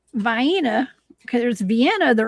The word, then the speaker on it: Vienna: So now now we got three ways to pronounce it, right? Vini. Vena. Well, there's Vina. Vyena. There's Vienna the right way.